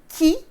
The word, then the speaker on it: tjie: make a word small we've got the tjie or the ie i want you to rather pronounce it to yourself say ki and then it'll help you when you sort out your endings when you do assessments